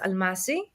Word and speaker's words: Almáši: aming maybe more Hungarian ah Hungarian is pronounced alashi alashi alashi okay amazing